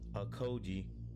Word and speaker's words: Okogie: Suns grab big man from Hornets as Josh Okogie.